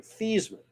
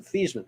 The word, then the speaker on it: Theismann: joe that said nope we're changing the pronunciation of your name this man because it rhymes with heisman which he lost to